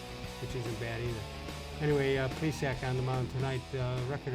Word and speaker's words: Plesac: Jose Arguidi, I believe is the way he pronounces it. Zach Plesac, I know that's the way he pronounces it.